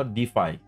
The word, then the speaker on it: De.Fi: paling hot naratifnya adalah Defy dan project ini namanya juga persis ya dengan sektornya yaitu Def meskipun ya di tengahnya ada titik ya Di ya tapi ya kita bacanya tetap Def nah saya bakan Jelaskan